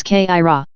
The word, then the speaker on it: Kyra: Kyra is the word for those of 3rd degree, which they pronounce Kaira.